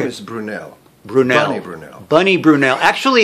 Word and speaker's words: Brunel: My name is Brunel.